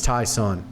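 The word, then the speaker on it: Ty'Son: to time tyson williams it's tyson or tyson it's t y apostrophe sun so not sure on the pronunciation there i think it's thai sun tyson that's the way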